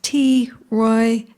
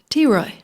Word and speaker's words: T. Roy: And our next poet, I've finally, last month, learned how to say his name is T. Roy Cutler. T. Roy.